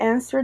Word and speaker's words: answer: the silent it suppose silent W we have answer we don't say answer